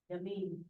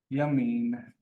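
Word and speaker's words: ימין: Yamin. That's perfect pronunciation.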